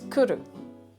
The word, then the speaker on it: cwrw: The word has no vowels, at least not as we would recognize them in the English language. Cwrw is spelled C-W or W, because that sound is in there already.